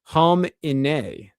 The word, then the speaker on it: Khamenei: The Ayatollah surname is pronounced Khamenei. Khamenei, is that right? Khamenei.